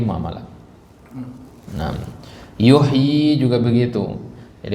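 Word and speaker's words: يحيي: ayat l malah en yuhyi juga begitu Jadi kalau kita ketemu kata yuhyi di dalam al-qur'an itu bacanya panjang meskipun penulisannya pendek Kenapa Dar dari mana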